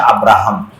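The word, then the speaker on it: Abraham: এই জন্য দেখবেন যে তারা ভালোবেসে শখ করে ইব্রাহিম আলাইহিসসালামের নামে তাদের সন্তানদের নাম রাখে, যেটা ইংরেজি উচ্চারণ হচ্ছে আব্রাহাম, যেমন আব্রাহাম লিঙ্কন।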